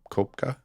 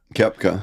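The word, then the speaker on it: Koepka: have the wrong golfer, I apologize if I say his name wrong, but Brooks Cop Copka Kepka Kepka he he went over to live.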